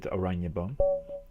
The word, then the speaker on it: Oranjeboom: well, you pronounce it Oranjeboom.